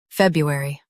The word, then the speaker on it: February: US, brew. UK, bew. Watch that middle sound.